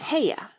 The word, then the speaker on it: Haigha: His name is Heia." He pronounced it so as to rhyme with mayor.